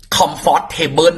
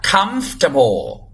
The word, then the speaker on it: comfortable: คือ เรา โดน สอน มา แบบ นั้น น่ะ Comfortable น่ะ เ ได้ ยิน ใช่ มั้ย Comfortable ไม่ จ้า ออก เสียง ว่า เอา ใหม่ ออก